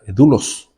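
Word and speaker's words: doulos: esclavo en griego es la palabra dulos se escribe d o u l o s repito d o u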